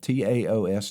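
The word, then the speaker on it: Taos: Ta. I think that's how you say it. T AO S. TA like Tal Teaos Mexico and the Tiguan.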